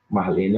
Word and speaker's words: Marlene: Por exemplo, se você pegar Marlene, a sílaba tônica é o lê, né? Marlene é uma palavra paroxítona.